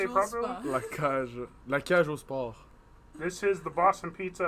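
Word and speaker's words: La Cage aux Sports: La cage au sport.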